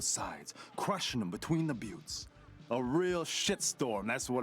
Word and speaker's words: Buttes: I will probably forget that it's pronounced Buttes. I would rather pronounce it correctly.